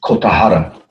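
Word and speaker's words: Kogahara: is pronounced Kotahara.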